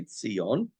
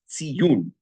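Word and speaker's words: ציון: It's spelled exactly the same way. Tzadi yud vav nun. It's this way, tzion, but it's pronounced tziyun.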